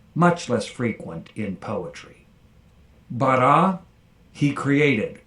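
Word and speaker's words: בָּרָא: Call perfect, 3ms from Beit Resh Aleph, and you'll notice the comets under the Resh because the Aleph is silent, so once again we have compensatory lengthening of the Patach to the comets.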